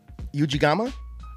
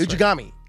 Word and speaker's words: Ujigami: Uh, Ujigama. Ujami Ujami. That's Ujigami. Ujigami.